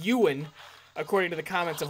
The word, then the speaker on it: Ewan: That would be Ewan, who apparently is pronounced Ewan, according to the comments of last episode. I will be the judge of that. I think it is Ewan, because I think of the actor Ewan McGregor.